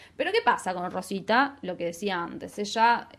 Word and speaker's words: Roswitha: Aparece ahí un nombre de otra mujer que se llamó Roswitha, creo que lo pronuncio bien, Rosita, de Gandersheim. Rosita. Nosotros le decimos Rosita.